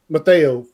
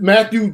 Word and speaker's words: Mathieu: Tyrann Mathieu for Mateo safety from. Thank you. No, say Matthew. It how it's spelled. Matthew. It's Matthew. It's Matthew. They all messed up.